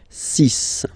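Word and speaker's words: six: Then be careful here, because even if it's ending with this X, well, you'll have to pronounce it like S, okay? So you get the 6 pronunciation. 6.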